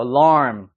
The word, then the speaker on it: alarm: 때문에 어떻게 읽어야 될까요 이것도 알람이 아니죠 라이 되는 거예요 alarm 앞에 빨리 지나가는 거야 Al 이해됐어요 alarm 해 보세요 한번 alarm 쉬운 발음은